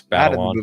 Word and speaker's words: Batalon: Um Zendaya and Jacob Batalon, I think is how you say his name. I mean, they're You're correct. It's Batalon.